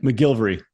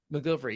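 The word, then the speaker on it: McGillivray: name we should mention how do you pronounce Scott's last name Scott Gil is that right mcgilvery mcgilvery yeah he was also the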